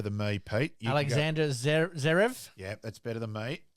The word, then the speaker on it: Alexander Zverev: And now plays You pronounce this better than me, Pete. You can Alexander Zverev.